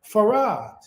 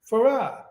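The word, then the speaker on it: Fard: Islam we were T we were taught and we were told to pronounce it farad so whenever someone from Nation of Islam sees f d they say far and those of us who know it we say Farah Master Farah Muhammad Farah okay but unbeknownst to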